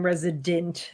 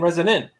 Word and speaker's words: Resonant: Everyone thinks Bruce keeps saying Resident. I'm saying Resonant.